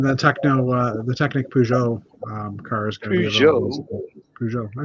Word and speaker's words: Peugeot: um oh yeah the Techno uh the Technic Peugeot um cars I said it right yeah you